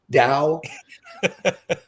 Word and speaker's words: Dao: spend a lot of time with it so pronunciation of Dao like yeah I like it thank you uh